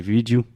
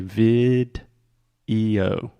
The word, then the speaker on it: video: is another word that I just hear Brazilians almost just use Portuguese pronunciation and say video but in English we say vid EO video so first we have a hard D sound vid and then we really